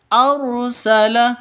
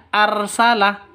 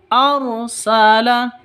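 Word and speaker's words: أرسل: tangan] haqq arsala rasulahu arsala rnya ro tafkhim tebal ya ra tafkhim harus ditebalkan arsala seperti itu. Bukan arsala tapi arsala seperti itu ya.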